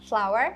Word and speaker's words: flour: Ага, flour. Вот, кстати, flower и flower, цветок и мука, звучит одинаково. Пишется по-разному, но не стоит этого бояться.